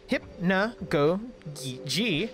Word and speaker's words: Hypnagogia: My name, is derived from the game's title, Hypnagogia, and you pronounce it Hypnagogia. Ah, Hypnagogia?